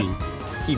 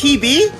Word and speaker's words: Hebe: How do you pronounce that? Hebe. It's Hebe? Yep. I've been pronouncing it bad. Oh, my bad. Alright. Yeah, I'm Right. just basing it off the actual like pronunciation of the Goddess of Youth.